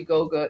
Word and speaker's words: Goga: And it's so funny that your name is actually Goga. It rhymes with yoga, and you started this journey in 2017.